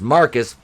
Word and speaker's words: Marquis: out to be and marquise pronounced marcus flatlines thankfully much the